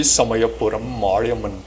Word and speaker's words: Samayapuram Mariamman: Before we begin with Eden, let's ensure that we got that pronunciation correct of the temple. Was it correct, sir? It's the Sri Samayapuram Mariamman Temple.